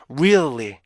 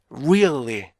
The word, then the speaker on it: really: 사운드는요 그래서 up 그래서 리 그래서 어떻게 돼요 Really Really Really 중간에 있는이 부분이 피치가 잘 올라가야 돼요